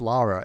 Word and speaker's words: Lara: a very english name like it's it is lara it's never been lore it never will be lord laura is a